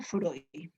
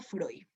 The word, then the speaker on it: Freud: el representante del psicoanálisis si escribe frío pero se pronuncia freud el representante del análisis describe friend pero se pronuncia freud el psicoanálisis no estudia